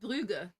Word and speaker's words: Bruges: The Bruges. There you go. Isn't it Brugge? Probably. But I've always thought it was the Bruges.